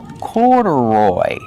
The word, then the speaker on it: corduroy: Put the stress on the first and third syllable. Corduroy.